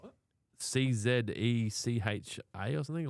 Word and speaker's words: Czech: Oh, it is Czech. It is Czech. That's how you pronounce it.